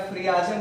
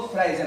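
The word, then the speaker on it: friagem: Spelling याद रखने की सुविधा के लिए आप फ्रियाजेम बोल सकते हैं, FRIAZEM, फ्रियाजेम, लेकिन इसको फ्राइजेम कहते हैं।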